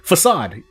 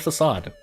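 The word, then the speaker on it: façade: own sanity, I'm going to look up the pronunciation of... I'm just going to wait for the thing. Facade!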